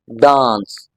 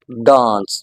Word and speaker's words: dance: टू elongate the sound, so this is actually a long vowel sound, a, dance, dance, okay, so you must